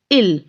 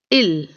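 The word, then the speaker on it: ils: it is plural okay ill it will pronounce as l only while s is still there but it will be pronounced as ill then we have which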